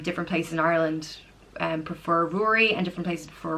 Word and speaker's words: Rory: Honore means king so Rory Rory it also can be pronounced grew REE Rory like brewery but without the B or Rory and like